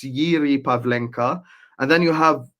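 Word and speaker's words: Jiří: It says Jiri Pavinka, but I don't you guys don't pronounce the J. So, I think it's Yiri Pavinka.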